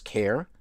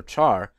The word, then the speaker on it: char: at how to use the CH also sometimes pronounced as care car or Char data type once again